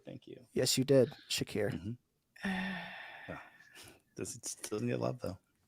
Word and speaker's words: Shakir: 45 minutes all right Rodney with yosias or Shakir and I said his name correctly thank you yes you did Shakir this doesn't get love though all that good